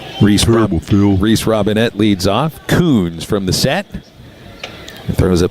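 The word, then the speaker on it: Kunz: Cade Huns. I couldn't find it. My bad. He's a 6'1 junior from Littleton, Colorado. And I'm saying his name incorrectly because there's the pronunciation over here. It's Coons.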